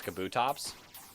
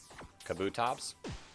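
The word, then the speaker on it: Kabutops: How do you pronounce kabutoops? Kabuto tops like that.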